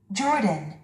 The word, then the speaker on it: Jordan: 우리 한국인들은 이 단어를 요르단이라고 합니다. 그런데 원어민들은요? Jordan. Jordan. Jordan. 스트레스가 맨 앞에 있습니다. Jordan. Jordan. 요르단이란 국가가 되겠습니다. Jordan.